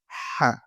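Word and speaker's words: ح: Celle-là, la lettre Ha. Ha, il faut bien prononcer.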